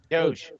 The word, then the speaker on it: Doge: oh here's an argument how do you pronounce d o g e Doge it's do you're it's Doge because there was a song about it and in that song they pronounce it Doge so I'm gonna always say it Doge doggy or do I'm Gonna Keep consistent with my name joke and just say the g is silent so it's do okay good call that's